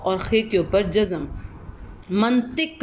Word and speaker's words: منطق: خے کے اوپر جزم۔ منطق لفظ ہوتا ہے، میم کے اوپر زبر، نون کے اوپر جزم، توئیں کے نیچے زیر اور کاف کے اوپر جزم۔ تو حکمانہ، تے